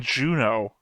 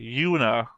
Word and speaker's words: Yuna: Sorry, my thing is that you keep saying Juno. Juna. It's with Y. Yuna.